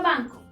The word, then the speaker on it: banco: La palabra banco. Banco. Tiene su sílaba tónica en ban, es decir, en la penúltima sílaba, pero como también termina en una vocal, no la podemos acentuar.